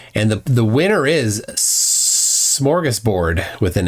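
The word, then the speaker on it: smörgåsbord: a pretty good number say schoras board I say smorgus board with an s i more often say Buffet though I have heard people say Buffett but I'm not going to take a poll on that my mom says morus board she does not say Buffet though she says bouet like Mom it's Buffet no it's bouet Mom it's smorgasport no it's schoras sport okay mom um icy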